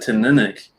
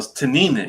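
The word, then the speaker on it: Teaninich: he goes you know to nina gets the emphasis on that second syllable i'm like oh i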